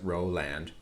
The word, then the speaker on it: Roland: he was in pittsburgh his character name was roland you know roland but he would pronounce it row land and he always had